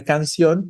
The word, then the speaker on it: canción: Claro, la palabra canción también es una palabra aguda. Sion tiene fuerza en la última de sus sílabas, ¿no?